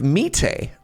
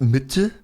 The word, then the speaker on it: Mitte: And my Canadian brain, I was like, oh yeah, we're in the community of Mitte. And then my German friends are like, it's pronounced Mitte.